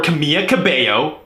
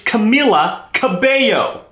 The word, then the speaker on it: Camila Cabello: me clear this up it's not Camila Cabello or Kamiya Kibeho it's Camila Kibeho 1 l 2 l's she's Hispanic it's not hard and Harmonizers say I